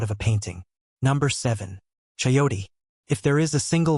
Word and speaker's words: chayote: Number seven, chayote. If there is a single vine on this entire list that qualifies as an absolute production machine, it is this one. Chayote, pronounced chah-yoh-tay, botanical name Sechium edule,